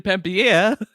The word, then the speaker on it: Panettiere: Hayden Panettiere.